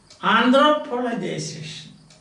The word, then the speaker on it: anthropologization: The stress is on this. Anthropologization. Anthropologization. Because it's a big word now. So you cannot say anthropologization. You cannot say that. So the stress takes you forward.